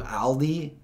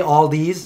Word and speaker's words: Aldi: to say all right I used to say all these and at least I corrected that I call it Aldi not all these you know kind of